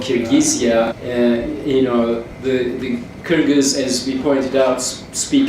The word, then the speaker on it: Kyrgyz: The Kyrgyz, as we pointed out, speak a Turkic language, and in their language, Kyrgyz is the way you pronounce it. Nobody else can say that.